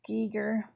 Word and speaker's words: Giger: It's pronounced Giger. Giger.